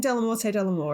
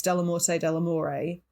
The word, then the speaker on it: Dellamorte Dellamore: to enlighten me well i've been saying del morte delamore and it's not it's de la morte de la moray which i'm pretty sure